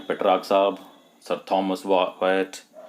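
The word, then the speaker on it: Wyatt: Petrarch साहब, sir Thomas वायट, इनका उच्चारण जो होता है ना वायट, वाई और एट से जोड़ करके बना है, सर थॉमस वायट।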